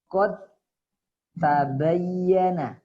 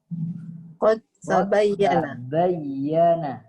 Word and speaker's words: qad tabayyana: Jadi bunyinya qad tabayyana, seakan-akan dal ini tidak ada.